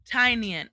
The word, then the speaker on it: Tinian: Tinian. Oh, yes. That's how I learned how to say it. Somebody said on my stream last week that it was like tiny onion, Tinian, right?